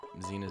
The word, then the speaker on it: Xena: Also, I always thought it was weird that I called Xena Z, even though it's spelled with an X.